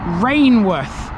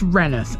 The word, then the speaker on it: Rainworth: in a place which a lot of people would think is called rainworth however that is not how you pronounce it it's called renith